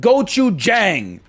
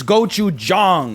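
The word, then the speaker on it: 고추장: started from okay and it is not gochujang it's gochu Jong okay it's we've come too far to slip backwards into the gochujang the a sound it's more like an uh sometimes not always Korean language is actually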